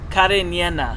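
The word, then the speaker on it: Cariñena: I believe it's pronounced Carniena. Carniena. Carniena. Because there's an enye. In the middle end.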